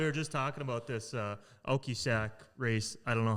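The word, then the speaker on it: Oquossoc: Scott, we were just talking about this Okisak race. I don't know how the hell you say it. Yeah, how do you say it? Okisak. I don't know. It's Oquassic, Maine.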